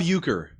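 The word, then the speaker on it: Uecker: It's Bob Uker.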